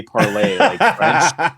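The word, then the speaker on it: Parler: was it not popular it was supposed to be parlay but okay so many people are calling it parlor they were like yeah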